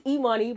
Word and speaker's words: Imani: Well, my name is Eoney, but everybody calls me money.